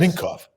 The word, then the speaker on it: Minkoff: Is that pronounced correctly? Yes. Minkoff.